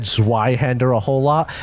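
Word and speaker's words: Zweihänder: just released, I said Zweihander a whole lot. I am fairly confident that's not how it's pronounced. Well, it probably is actually because Really? Zwei is 2 in German. Well, Zweihander it is.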